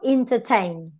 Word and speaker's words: entertain: Entertain. Last syllable is strong. It has a diphthong. Before you have a schwa. Before you have a simple vowel. That's why it has a secondary stress.